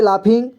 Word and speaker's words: laughing: तो इसको लाफिंग पढ़ेंगे LAUGHING, इसे लाफिंग पढ़ेंगे।